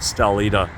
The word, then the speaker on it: Stalida: is called stalida s-t-a-l-i-d-a i don't know how the greeks pronounce it but i'll just call it stelida so yeah it's uh